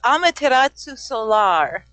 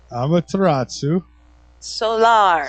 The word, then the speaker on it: Amaterasu Solar: So, I guess a good place to start is first the pronouncing your name. It's Amaterasu Solar. Say that once more. Amaterasu Amaterasu Solar.